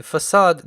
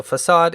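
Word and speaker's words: façade: to talk about the facade design pattern. And before you ask, that thing under the letter C is a cedilla, and that's what makes it pronounced as S instead of K. So facade is a design pattern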